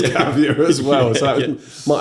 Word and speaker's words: Gavia: Well, we were Gavea. Gavea, okay. But we were the only people that pronounced it Gavea. Probably because I was doing the recruitment for you in the early days and telling everyone it was Gavia as well.